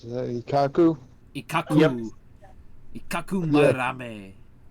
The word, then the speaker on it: Madarame: Ikaku Marame. His last name kind of comes off more like a Spanish name when you say it because the R is rolled. There, yeah. Marame.